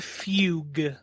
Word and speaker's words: Fugue: foo plane are we did I say it right this time no you said it wrong twice actually both it's pronounced Fugue Fugue plane look just think of the classical song tokata and Fugue I hate our language